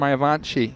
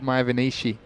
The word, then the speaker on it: Mayavanshi: It's Mayavanshi. You said Mayavanishi.